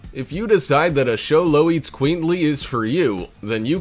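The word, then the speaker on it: Xoloitzcuintli: be able to pronounce show low eats queenly there are plenty of ways this pooch is one of the rarest in the world show low that's how you say it yeah show the squinty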